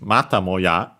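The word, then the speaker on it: またもや: But yeah, the meaning for this mata moya, so actually accent on the ta, so low, high, and everything else low, means once again, yet again.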